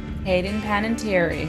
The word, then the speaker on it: Hayden Panettiere: Hayden Panettiere.